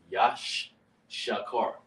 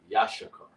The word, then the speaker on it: Issachar: It's pronounced Yash Shakar. Yashakar.